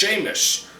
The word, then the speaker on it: Seamus: I'm Seamus, pronounced Seamus, so they nicknamed us Seamus, and Sean and it stuck, just like your mother.